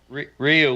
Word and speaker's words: Ryu: I just say Ryu, like it's spelled. But... Ryu.